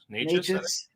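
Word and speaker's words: Nečas: How do you say his last name? Is it Nekus? Martin Nekus? Martin Natchez.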